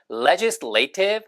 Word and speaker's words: legislative: 액센트가 이게 보통은 이렇게 legislation 하면 이것도 legislative 될 것 같지만 얘는 맨 앞에 액센트가 있어요. legislative 혹은 legislative 혹은 legislative처럼 맨 앞 액센트 있다는 거 빨간색으로 색깔로 달리 표시해 드렸습니다.